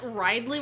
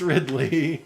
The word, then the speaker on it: Ridley: I don't know why I pronounced ride Lee once in the car and you like that you did I you don't hear these things said out loud that much cuz it's a video game care but I guess no it's not it's Ridley okay it just it